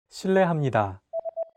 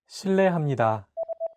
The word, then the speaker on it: 실례합니다: While this character is transcribed as an R and an L, don't pronounce it like an English R. Listen to how Jay is pronouncing this sound. 르, It sounds like a mixture between an R and an L sound.